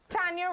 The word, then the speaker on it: Tanya: Tanya rhymes with Anya.